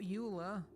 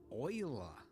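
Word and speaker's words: Euler: Not uler oiler. Yes, I know they went with the weird pronunciation.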